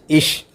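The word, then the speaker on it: ich: as shore Shah for example I സി എച്ച് ഇഷ് it means I ഓർ ബി you Lord C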